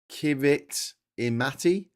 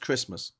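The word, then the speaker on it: Kiritimati: You think it's pronounced like that? It's not. It's pronounced Christmas because a ti in um in in um in I guess uh um Kiraabasi I don't know uh is is pronounced as an S.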